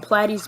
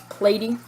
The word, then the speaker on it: platy: Some people call them platies, but they're really supposed to be pronounced as platy.